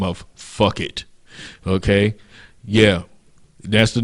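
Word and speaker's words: Phuket: It's an island by the name of Fuck It.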